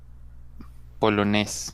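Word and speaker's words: polonais: Polonés. Polonés. Quitamos la E en la pronunciación y cambiamos el diptongo a AI, como se pronuncia E.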